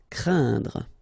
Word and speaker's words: craindre: So it's quite interesting here because you get this combination of letters, so A, E, and then N, okay, so it will be a nasal as well, and then it will be pronounced like un, so keep in mind that it goes in your nose, so you don't hear any N when I pronounce it, and then C plus R will produce the sound craindre.